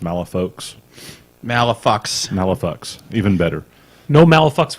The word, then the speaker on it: Malifaux: But I mean, we're going to take the official stance here that everyone that plays the game is wrong because it should be pronounced Malifaux.